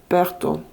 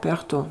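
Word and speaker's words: Pertho: Donc pour vous les Verseaux, ici il y a une Perto, je sais pas, je prononce à la russe Perto, la rune Perto, P-E-R-T-H-O.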